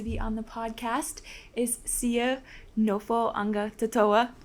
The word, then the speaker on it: Sio Nofoagatoto'a: Yeah, it's Sio Nofoagatoto'a. So our G kind of sounds like an N in our language.